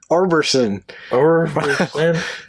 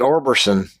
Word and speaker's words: Orbison: sound like an alien Roy Orbison arberson I don't think we're saying it right I think it's Orbison Roy Orbison wouldn't be